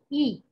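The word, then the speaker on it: Yi: Y-I, but we pronounce it as E.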